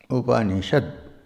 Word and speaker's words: Upanishad: Upanishad. 3 syllables. Upanishad.